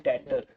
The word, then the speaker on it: debtor: जिसको गुड्स बेचते हैं उसको डेबिट करते हैं, वो हमारा कस्टमर होता है, उसको बोलते हैं डेटर। बी साइलेंट है, DEBTOR, B silent, डेटर डेबिट।